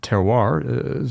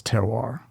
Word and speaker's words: terroir: What's Isa's teroir? How would you describe it concisely to someone who's either a whiskey lover or someone who's completely ignorant? It's a French term. That's the French pronunciation.